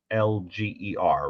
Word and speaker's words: Bulger: Is it pronounced Bulger? Wow. But it's Bulger, right?